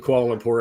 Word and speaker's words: Kuala Lumpur: Kuala Lumpur. That's how I say it, but I could be That's what I would say. And I actually know somebody who was born in Kuala Lumpur.